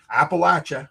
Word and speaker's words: Appalachia: Appalachia. I learned how to pronounce it properly.